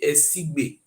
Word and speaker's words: Esigbe: He said the spelling is called SC, not be Esige, Esigbe. ESIGB, not be SCG. Esigbe, now be the correct pronunciation.